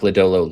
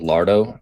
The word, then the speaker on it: Lodolo: So first off, Steve's calling Nick Lodolo Lardo in the chat was the highlight. Steve's name of the, and then asked how to actually pronounce it, and I was like, "There's not even an R."